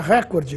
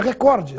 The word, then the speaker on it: recorde: correta Record ou Record ouve-se cotidianamente a forma Record com uma tonicidade na anti penúltima sílaba portanto como proparoxitono porém essa forma não está registrada nos dicionários e no vocabulário ortográfico da Academia Brasileira de Letras a forma registrada é recorde sem acento oficialmente ela é paroxítona